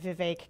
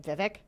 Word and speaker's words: Vivek: to Iowa so it I have been pronouncing his name Vivek for a long time and it is Vivek and the people in Iowa knew how to pronounce it correctly but also there's a